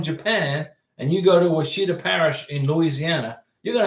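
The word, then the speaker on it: Ouachita: Washita is how it's pronounced.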